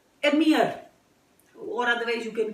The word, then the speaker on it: Emir: And you'll find people calling it Amir. It is not Amir. It is generally pronounced as Emir.